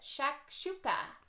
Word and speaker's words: shakshuka: will be cooking let's see if I can pronounce it shakshuka four two tomatoes one onion and one pepper